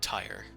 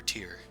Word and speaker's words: Tyr: ill mater torm and tyre or tear do we want to go with tire or tear i like tear tear sounds better okay i don't usually